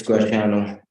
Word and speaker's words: Graciano: Graciano Villanueva Jr.? It's Graciano. Yes, ma'am. Graciano, Yes, thank ma'am. you. I didn't know if it was a hard C or not.